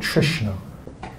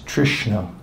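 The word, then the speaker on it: tṛṣṇā: with this is called trishna could you try pronouncing this Trishna with the dot underneath it and when we're translating in English it makes an SH sound so Trishna means thirst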